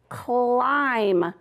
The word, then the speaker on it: climb: What do you notice about this word? Climb. Right. You don't hear the B, do you?